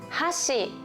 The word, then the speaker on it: 箸: 箸最初にアクセントを入れるとそれはチプスティクスのことですね。